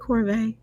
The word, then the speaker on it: Corvet: It Corvet? Yeah. And that's how I've been pronouncing it.